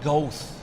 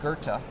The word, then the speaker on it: Goethe: I remember one time he was quoting the German poet, and he said Goethe, Oh, and it's pronounced Goethe.